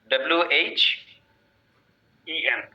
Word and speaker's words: when: WH EN. When?